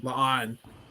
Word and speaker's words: La'an: And Union Singh, or I don't think I said it right. La'an.